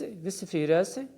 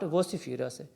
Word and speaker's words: vociferous: This word will be pronounced as vociferous, not vociferous.